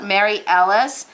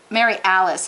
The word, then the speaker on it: Mary Alice: friend of mine wrote mary ellis mary alice i should say i want to pronounce